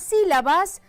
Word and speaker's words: sílaba: Aquí la sílaba tónica es la sí.